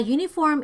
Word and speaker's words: uniform: So we use the article a here because uniform is a consonant sounding vowel like letter U or simply U and is pronounced as U, as in Y-U.